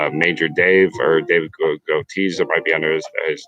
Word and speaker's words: Goetze: So it's Dave Gotees, I believe is the right way to say it, or Major Dave, but it's David, and then it's Goetze.